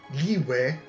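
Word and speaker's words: Liyue: He pronounces it Liwe. or Liwei.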